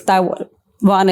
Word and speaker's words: Taiwan: it right it's Taiwan I think in India we instinctively tend to say Taiwan but in English it's actually not wrong so it's taian in English but then it's a it's pinan Taiwan Taiwan the local pronunciation will be Taiwan that's more proper so for proper introduction